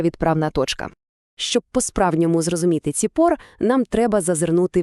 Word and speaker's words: צִפּוֹר: Ціпор. Вимовляється як ціпор.